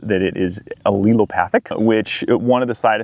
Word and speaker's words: allelopathic: Also, the rye that we have here specifically is Oleojurassic. And so, what's the word again? Becky taught me how to pronounce that it is allelopathic, which one of the side effects of that